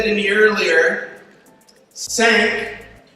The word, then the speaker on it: SAANC: And somebody said to me earlier, SAANC rhymes with thank.